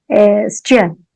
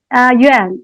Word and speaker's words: Yuan: But in Chinese, we pronounce it in a more like plosive way, Juan.